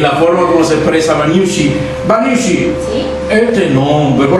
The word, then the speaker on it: Vanhiussi: una parte para que nadie tenga errores al pronunciarlo, pero realmente mi nombre es Vanyushi.